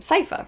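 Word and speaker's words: Sypha: Castlevania I'm spacing on how to pronounce her name Cipher right that's how you say it's been a long time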